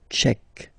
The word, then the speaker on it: tchèque: La République tchèque. So remember, Q-U-E, K, Tchèque.